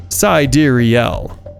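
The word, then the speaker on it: Sideræl: third part of wise full name sidrielle is pronounced SideReel Grimes noted that the word was a more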